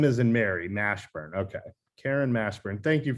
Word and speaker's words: Mashburn: name and well state your name and then spell it for the record please yeah my name is karen nashburn k-a-r-e-n r m-a-s-h-b-u-r-n and i apologize karen was